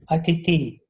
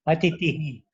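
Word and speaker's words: अतिथिः: That should be pronounced, right? Atitihi. I'm sorry. I'm sorry. Atitihi. See, you cannot drop the Visarga.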